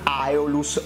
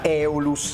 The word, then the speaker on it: Aeolus: è una har benton aeolus o meglio come mi ha fatto notare qualcuno di voi nei commenti si pronuncia eolus la stessa chitarra che